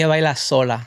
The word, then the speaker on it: Ella Baila Sola: Um you know, obviously your big hit was uh Ella Baila Sola which is Did I pronounce that correctly? Ella Baila Sola. Oh, Sola. Sorry. Ella Baila Sola which I actually know means she dances alone.